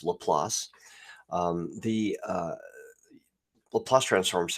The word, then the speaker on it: Laplace: It has it's uh named after um leelas who a famous uh French mathematician and pronounced lelass.